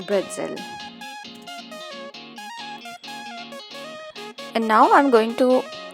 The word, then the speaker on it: pretzel: So it is actually written as pretzel, but it is pronounced as bretzel.